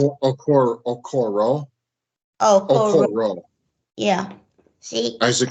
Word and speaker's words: Okoro: Is that how you pronounce it? Okoro.